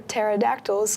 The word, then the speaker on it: pterodactyl: why can't you hear pterodactyls go to the bathroom because the P is silent are you let's figure